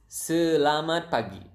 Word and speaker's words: selamat pagi: It is selamat pagi.